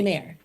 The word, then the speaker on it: Mare: Is it Anne or Annie? Annie Mare. Okay, Mare. So you're wrong on both parts.